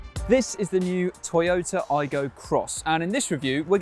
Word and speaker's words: Aygo X: And you might think that this is called the Toyota Aygo X, but apparently you're supposed to pronounce it Toyota Aygo Cross, which becomes even more